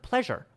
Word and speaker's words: pleasure: The S sound, right, is a sound like a zh or a J sound. Pleasure.